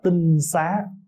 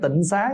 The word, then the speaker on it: tinh xá: Đất sạch cho nên chúng ta thường gọi là tinh xá tinh xá chứ không phải Tịnh Xá nha Bây giờ mình